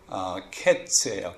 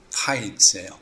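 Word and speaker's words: קֵץ: 근데 이 끝이라는 단어가 히브리어로 캐츠예요. 캐츠. 그리고 아까 여름과일 그거는 카이츠예요. 그래서 발음이 비슷합니다. kites, kites 해가지고 발음이 같지요.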